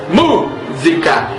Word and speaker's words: música: música para mostrar que a palavra música é uma proparoxítona tendo como sílaba tônica a antepenúltima sílaba mu ao tocarmos não precisamos